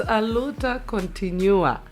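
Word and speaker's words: A luta continua: It's Aluta Continua. Okay. Portuguese. Oh, okay.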